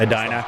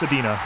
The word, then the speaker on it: Adena: So, this is Adena against Why? I can't. Adina. Ad. No, it's Adena. I looked up pronouncing.